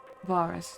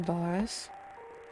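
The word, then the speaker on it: Varis: rest of our radios varus not theirs sorry they pronounced his name boris it was a cunning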